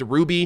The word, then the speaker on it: RWBY: now is one uh rwby pronounced ruby it is a 3d